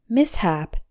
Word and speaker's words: mishap: me epitome number four mishap a mishap is an unfortunate accident although this word has SH we don't pronounce it like Shh we pronounce the s and the H in separate syllables sounds exactly like the